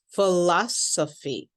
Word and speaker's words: philosophy: Now the PH sound in English often has an F sound, fee. So say this part with me. I want you to repeat after me, fee. Now let's say the second syllable, O fee. O fee. Okay, let's add in another syllable, la Sophie. La Sophie. And then finally, we say the whole word, philosophy.